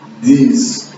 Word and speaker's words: these: These e those tem que esticar um pouquinho.